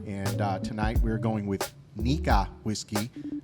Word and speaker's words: Nikka: Nikka. You got to add a little Japanese accent to it.